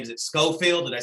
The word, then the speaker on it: Scofield: Is it Scofield?